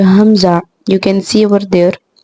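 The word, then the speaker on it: همزة: previous one ha, and it's pronounced from the deepest part of your throat. Now you have to practice after me. Hamza, Hamza, Hamza.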